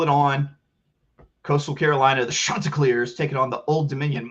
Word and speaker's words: Chanticleer: Old Dominion Monarchs, Chanticleer. That's how you have to say it. You gotta really pronounce the sha.